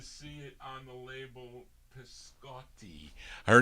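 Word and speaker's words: Pisciotti: p-i-s-c-i-o it's actually cho cio is pronounced cho in italian but it's p-i-s-c-i-o-t-t-i so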